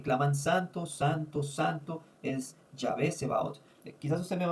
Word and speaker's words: Yahvé: Solamente quiero decirle que aunque nosotros nos referimos mucho como Jehová en hebreo, el que más se acerca es Yahé realmente. Eh, quizás es una pronunciación más acertada Yahvé que que Jehová.